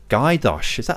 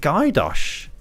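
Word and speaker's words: Gajdoš: Gajdosh. That's how you say it? Gajdosh. So the J's like a Y in Slovak, is it? Ah, yeah, the J's are Y sound like Bojan.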